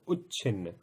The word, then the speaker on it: उच्छिन्न: ध्यान दीजिए, उच्चारण भी मैं आपको साथ के साथ में समझाता हुआ चल रहा हूं। इसको पढ़ेंगे उच्छिन्न और इसको विच्छिन्न।